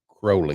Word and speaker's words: Crowley: want to say also it's not Crowley it's Crowley crowy it with holy holy rhymes with Crowley it's hard to it